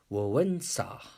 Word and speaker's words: Wałęsa: In October 1990, Poland had first president election, and WALESA, this is a spelling but pronounced as Wałęsa, became the first president of Poland.